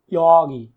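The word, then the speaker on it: 여기: ইয়গি, ইয়গি অর্থ কি এই জায়গা, এটা কিন্তু সঠিক উচ্চারণ কিন্তু ইয়গি।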